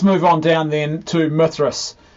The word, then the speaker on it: Mithras: on down then to Mithras rhymes with myth Mithras this is one of